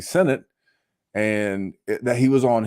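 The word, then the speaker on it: Sinnott: biggest hits was Ben Senate you know that was one and I was pronouncing it senat because it looks like senat but it's actually Senate and that he was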